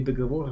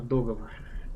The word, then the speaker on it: договор: Произносите правильно не договор, а договор.